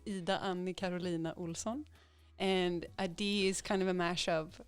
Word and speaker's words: Adee: Is it Adee? Do you pronounce it like that?